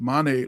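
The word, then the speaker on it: Mané: He used to play for my favorite team, Liverpool, Sadio Mane, and it's pronounced Mane, like my name Mane.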